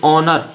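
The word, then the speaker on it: honour: फिर ऑनर, ऑनर में यच है जो साइलेंट है।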